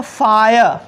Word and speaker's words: fire: अब देखिए दोस्तों FIRE, यहाँ पर देखिए दोस्तों ये आई जो है RE के पहले आ रहा है ना, और आई के पहले कॉन्सोनेंट है अकॉर्डिंग टू रूल, है ना, देख रहे हैं ना। तो यहाँ पे इस आई का उच्चारण क्या हो रहा है, फायर, फायर।